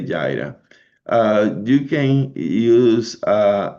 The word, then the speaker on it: Jira: Jer so I taking Jira or Jira a lot of people they pronounce that differently but I say Jyra uh you can use uh information from any other source that you have.